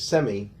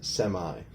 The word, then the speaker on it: semi: All right, now semi has two acceptable pronunciations. So sometimes you could hear it as semi, and sometimes you could hear it as semi.